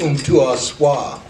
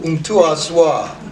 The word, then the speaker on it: Umtuaswa: She was trying to hook up is a Swahili name, and it's pronounced Umtuaswa. Umtuaswa. I think that sounds so good.